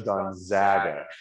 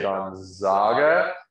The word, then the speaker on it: Gonzaga: you you can and it is gonzaga the pronunciation is gonzaga just for those who have been watching espn and hear them say gonzaga which is incorrect it is not gonzaga right